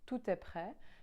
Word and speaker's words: tout: guess so that's how when it's a vowel starting the next word we do pronounce the T and then to other